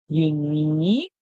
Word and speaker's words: unique: So the Q and U and E makes a sound like K. So we hear U, E, E, K. Unique.